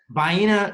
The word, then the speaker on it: Vienna: gonna go with uh how do you say it buyina sausages some people say vienna right that is a place